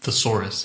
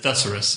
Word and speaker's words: thesaurus: it's an old joke Frank doesn't pronounce it thesaurus he pronounces it thorus therus and when I asked him